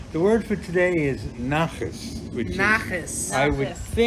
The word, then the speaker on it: nachas: the word for today is nachas, which Nachas. is I would Nachas. think you'd spell it N-A-C-H-E-S. Yes. Close enough. Sure. Not Okay. nachos, No, not nachos. but nachas.